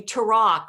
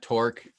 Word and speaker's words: Torok: would punch, Torok, because I bet people call you Torok or all kinds of different pronunciations, right? Right, yeah, Torque.